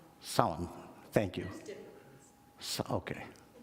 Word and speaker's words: Samhain: Samhain. Thank you. Okay. It doesn't sound anything the way it spells, so it's difficult.